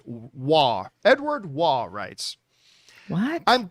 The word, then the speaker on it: Roy: I know it says Roy, but the Canadian in me, if you're a Montreal Canadiens fan, Patrick Waugh, I'm going to pronounce it Waugh.